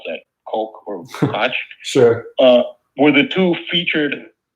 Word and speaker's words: Koch: It's the same name, but different, so I don't know how they pronounce it.